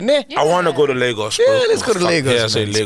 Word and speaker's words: Lagos: Made in Lagos.